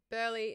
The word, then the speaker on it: Burleigh: Burleigh. No, no. Burleigh is spelled.